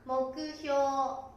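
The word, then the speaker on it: 目標: 目標と書きますが、発音は目標、目標。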